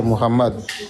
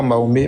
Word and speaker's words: Mohammad: en coris son nom c'est Mohammad son nom ce n'est pas maomé mahomé c'est tout simplement un